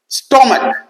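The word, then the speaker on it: stomach: দুটো মনে রাখবে, স্টমাক আর মোনার্ক। এই স্টমাক পাকস্থলী, মোনার্ক রাজা, এইখানে দেখো সিএইচ উচ্চারণ ক হয়ে যাচ্ছে, এখানে কিন্তু আর সিএইচ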